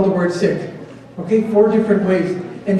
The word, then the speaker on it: Sikh: not pronounce the word sick as in seek if you Google any videos from England in England they all say see and it's actually sick so let's do a